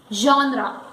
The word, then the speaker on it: genre: Now here when we say G, it is not jaw, it is jaw. It is combination of zaw and shaw and it is jaw. And so the pronunciation becomes genre.